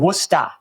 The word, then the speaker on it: Worcester: Sullivan and Worester.